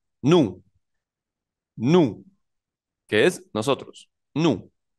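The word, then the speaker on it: nous: la primera se pronuncia nu nu que es nosotros nu la segunda persona se pronuncia Vu con v pequeña Vu como pueden ver esas eses no suenan nu y Vu solos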